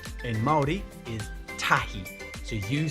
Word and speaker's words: tahi: Number 1 in Māori is tahi. So you say tahi. Say it out loud so you can make sure that you can pronounce that word correctly. Tahi.